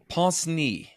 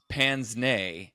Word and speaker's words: pince-nez: Everyone's like, well, in the UK they say it like this, and in pince-nez is the pronunciation in French, apparently. In English we say pince-nez, and in UK they say pince-nez.